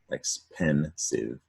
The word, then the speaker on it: expensive: So expensive is another 3-syllable word, accent on pen, expensive.